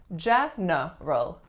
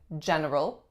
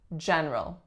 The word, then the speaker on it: general: hear some people saying general but it is so much faster and easier to remove that middle syllable that most people will pronounce this word as general general there was a